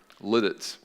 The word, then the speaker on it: Lititz: they moved out to liditz you know we're lidded Suzette and if you're from Pennsylvania that's the proper pronunciation Lititz and and Lancaster and